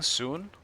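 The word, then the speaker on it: 孙: Or should I start saying soon? Because that's kind of the Chinese pronunciation of it. They also say Sun Wukong. Sun Wukong. We just say sun, like the sun. But that's not really correct.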